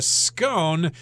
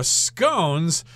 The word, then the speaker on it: scone: talking about B biscuits now scones that is the American pronunciation and if you talk to somebody from the UK they're probably going to say scon but I've heard them say scones as well so you